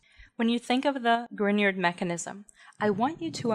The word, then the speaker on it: Grignard: formation reactivity and mechanism the grignard reagent pronounced grignard not grignard after victor grignard who won a nobel